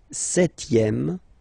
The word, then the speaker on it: septième: Le septième, so remember we don't pronounce this P here. Le septième, la septième.